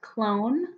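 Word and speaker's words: Qlone: is a free one it's called clone spelled with a Q and all you need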